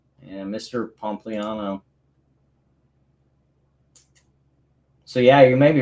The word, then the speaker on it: Pompliano: Pompliano. Yeah, thank you for pronouncing that for me.